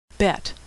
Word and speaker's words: Bet: Bet, which is pronounced B as in boy, or V as in victory.